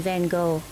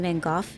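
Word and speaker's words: Van Gogh: Like 99% of us very likely think Vincent Van Go is the correct way to say that man's name and it is not. As it turns out, the correct way to say that man's name, it's Van Go.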